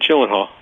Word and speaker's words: Gyllenhaal: No, you're all right, Gyllenhaal.